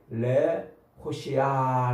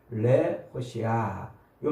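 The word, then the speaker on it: להושיע: 구원이라는 말이 레호시아 이렇게 발음을 해요. 레호시아.요 말이 어 예수와 히브리어로 예수아.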